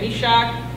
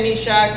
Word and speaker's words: Meshach: I thought I heard it less of a k at the end.